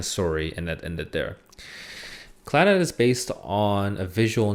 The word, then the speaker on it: Clannad: I still can't properly pronounce this show. It's CLANNAD, Clannad.